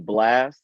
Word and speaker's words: Blxst: Him and Blast, it's spelled BLXST.